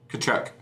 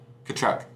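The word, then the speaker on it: Tkachuk: Kachchuck. The T is silent. Kachchuck.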